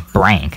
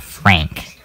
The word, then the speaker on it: Brank: My name is Brank, not Frank.